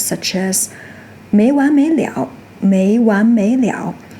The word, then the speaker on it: 了: When used as a complement word, it is pronounced "le ao" "le ao" in the third tone.